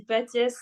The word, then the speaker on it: Patiès: Ça se dit Patiès parce que c'est un prénom Patiès. italien et du coup on prononce toutes les lettres, mais j'ai l'habitude, Très bien.